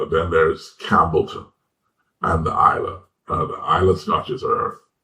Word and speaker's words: Islay: And the Highlands, one looks like Islay, it's pronounced Isla, Islay.